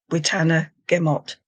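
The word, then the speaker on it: witenagemot: So and a meeting of the Wan was a witana gimmot or witanum wanamot don't think you pronounce the g.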